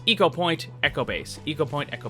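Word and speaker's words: Ecopoint: quick trip back to eco point Antarctica and yes it is eco point not echo point I kept saying that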